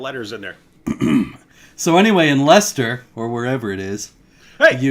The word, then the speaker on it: Leicester: in this Leicester, and it was called Leaps in Leicester, which was a pun on Lester Leaps In, but it only works if that's how you pronounce the word. So yeah, Leicester.